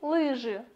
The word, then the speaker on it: лыжи: И лыжи. Ударение на первый слог.